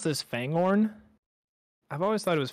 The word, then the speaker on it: Fangorn: So you pronounce this Fangorn? I've always thought it was Fangorn. I'm looking at a map. I don't know. Fangorn? The G is in the middle. It's Fangorn. Fangorn. Fangorn. Fanghorn? Yeah, Fangorn.